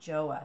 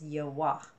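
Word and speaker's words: 좋아: the pronunciation button and it said yell wah and I went okay it's yah wah not joah so I apologize for saying this incorrectly it's yo wah we use a little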